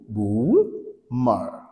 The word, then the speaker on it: boomer: اللي موجود قدامكم ده النطق الصحيح بتاعها هو بو بو مار بو مار دبل او الاتنين دول اتنطق يبقى الكلمه بومر مين هو الومر ده